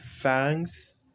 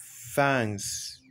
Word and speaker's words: thanks: Ici, thanks, n'est-ce pas? Thanks. Ce n'est pas thanks, mais c'est thanks. Avec ce symbole-ci que vous voyez là.